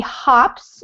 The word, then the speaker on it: hops: the train station he hops and you caught yourself there don't octa so that it's a hop sound we call that a short o sound hops on a single-engine